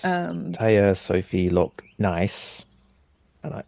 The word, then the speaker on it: Næss: it's Um, Thea Sofie Loch Næss, and I say that like Borat because that's apparently how it's said.